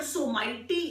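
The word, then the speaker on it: Someity: That's how we pronounce it. The word Someti in English, which means stronger, powerful. That mascot, they are actually trying to relate this Someti with Somighty word in English, which actually shows stronger and powerful.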